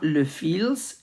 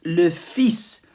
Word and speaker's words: fils: It's not le fils, it's le fils. We don't pronounce the L.